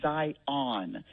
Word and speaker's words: Zion: And then in Nevada, people say Zion. Like, they really emphasize the on here.